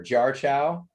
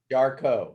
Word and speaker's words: Jarchow: brian and let's see how do you print your last name just make sure jar chow dar cone oh darko okay i've said it wrong every single jar jar out there i've been butchering your last name brian sorry that's quite all